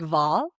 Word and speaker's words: Wahl: The only change, and I don't speak German whatsoever, is that W's they pronounce as V's, like Wahl.